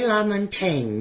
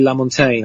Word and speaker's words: LaMontagne: so yeah well Ray LaMontagne you had to teach me how to say his name did you like it right yeah it's French so uh I mean he's he's not French but the the name is French and uh yeah it's